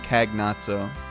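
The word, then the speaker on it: Kainazzo: I always call him kagn NATO I know the double z is like a s instead of a z hooray palum carry the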